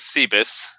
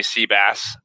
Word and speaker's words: Sebas: and Evans sure sure sounds good so the pronunciation of the last name is C Biss Slovakian in case you're wondering everyone just calls me sea bass whatever you prefers fine by me so my